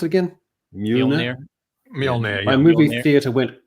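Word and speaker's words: Mjölnir: How do you pronounce it again? Mjolnir.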